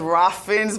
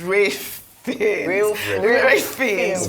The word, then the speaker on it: Ralph Fiennes: You know, I actually only realized how to pronounce Ralph Fiennes. I thought it was Ralph Fiennes my entire life. She was the actor in the film. So just for the correction, is Ralph Fiennes for his role in the Conclave was brilliant, really.